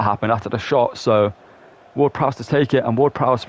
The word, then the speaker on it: Ward-Prowse: Prowser. Why did he pronounce it like that? It's James Ward-Prowse, but it doesn't matter